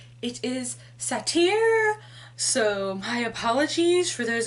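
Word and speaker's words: satyr: one of my roommates that I have been pronouncing satire wrong apparently it's not satire it is Satya so my apologies for those of you who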